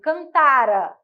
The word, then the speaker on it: cantara: Por exemplo, cantara é mais que perfeito.